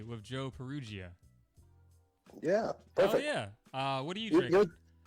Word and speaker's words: Perugia: I tell people phonetically, it's Peru like the country, G like the letter, like the sound.